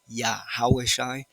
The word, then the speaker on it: YaHaWaSHI: true ancient Hebrew Israelites, pronouncing his name correctly, phonetically, sounding out his pronoun is YaHaWaSHI.